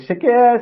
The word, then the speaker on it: Shakira: part of the song is Shakira Shakira that's what I use to let people know how to pronounce my name to make sure that